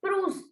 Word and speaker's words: prune: Ma'am, we will pronounce plum as une prune.